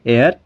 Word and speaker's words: heir: तो HEIR, इसको H जो है वो साइलेंट रहता है, E से ही आवाज़ निकलती है इसकी भी, ठीक है। एयर, एयर, ठीक है।